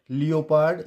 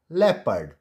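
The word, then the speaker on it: leopard: बन जाएगा people and इट्स नॉट लियो पार्ड इट्स लेपर्ड लेपर्ड एंड इट्स नॉट जिओ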